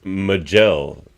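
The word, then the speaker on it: Ma'jel: Well, it's Majel, but it's spelled Majel with an apostrophe.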